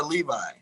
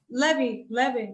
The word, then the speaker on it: Levy: Now, the proper pronunciation of your name is Levy or Levi? Levy, that's true. Levy. That's true. Okay. Even though in English they call it Levi or Levy.